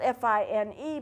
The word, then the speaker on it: fine: Now, it's spelled F-I-N-E, but it's not pronounced that way. It's pronounced fine.